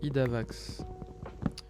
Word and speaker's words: Idavax: Ça se prononce Idavax.